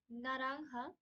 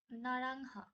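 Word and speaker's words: naranja: Greece Greece মানে হচ্ছে grey then we have নারাংহা নারাংহা which is orange আমরা আগেই পড়ে এসেছি যে যে এর উচ্চারণ অনেকটা হ এর মতো হয় সো এটার উচ্চারণটা হচ্ছে অনেকটা এরকম নারাংহা আচ্ছা সো এবার আমরা কিছু নাউন দেখবো যেমন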